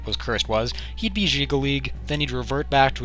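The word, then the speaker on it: Jyggalag: say the most likely D crisis would be jigal league and yes that actually is the correct pronunciation for once I looked it up the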